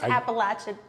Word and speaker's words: Appalachian: Did you know the Appalachian Mountains are in Jersey? I did. I grew up. Did you say it wrong? I grew up in the It's Appalachin.